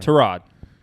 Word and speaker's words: Tyrod: of the year yeah tyrod tarad i'm sorry tarad get it right don't be an um say it right yeah andrew luck in